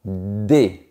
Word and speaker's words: des: Par exemple, si je prends le mot DES. De manière isolée, je ne prononce pas la lettre S à la fin.